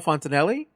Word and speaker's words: Fontanelli: So tonight I have Fontanelli.